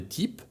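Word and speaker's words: type: Pamiętajcie, że litera y we francuskim brzmi tak jak i, więc w takim słowie jak to wiecie, że czytamy tip.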